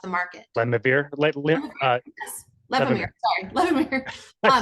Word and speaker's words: Levemir: Sorry, Levemir.